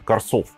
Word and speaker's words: Карсов: И как бы даже непонятно, где тут ударение, но судя по тому, что Шато Ле Гранд Восток, да, это ударение должно быть на последний слог, соответственно, Корсов.